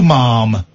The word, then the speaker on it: ma'am: Princess Charlotte, what may we do for you, ma'am? Ma'am. Rhymes with jam.